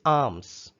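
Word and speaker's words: alms: words first one is arms it is not arms arms l is silent here dear students arms means money or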